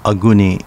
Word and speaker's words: Aguni: Aguni, pronounced Aguni in Uchinaguchi.